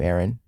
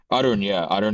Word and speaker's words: Arun: But, so it's Arun. Arun is how you say it.